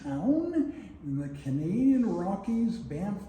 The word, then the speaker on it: Banff: It's named after a town in the Canadian Rockies, Banff, B-A-N-F-F. And the funny thing is, the second F is not silent. So you should really pronounce it Banff.